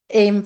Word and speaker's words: AEM: deeply about educational materials led to a change in the acronym but not in the pronunciation so if you've been wondering about that uh we say aim for both things but the term that